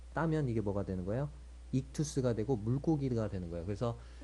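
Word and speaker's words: ΙΧΘΥΣ: 뭐 이렇게 해가지고 써 놨잖아요 이게 이거를 헬라어로 뭐라고 읽냐면 이투스라고 있습니다 이투스 이게이 발음이 나고요 그 발음 쓰우스 그래서 이투스가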